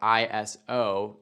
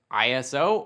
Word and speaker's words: ISO: ISO, spelled out ISO, can be pronounced ISO or ISO, and depending on where you are in the world, you might hear both, and both can be used.